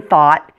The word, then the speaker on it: thought: One more thing to remember, the GH is silent in thought in all of the similar words.